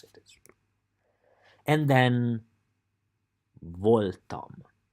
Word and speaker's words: voltam: You just have to pronounce it. And then Voltam. Voltam.